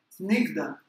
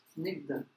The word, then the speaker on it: Snigdha: Ruksha e Snigdha. Snigdha. Tá? E sempre que tem um H, pessoal, esse som fica assim, ó.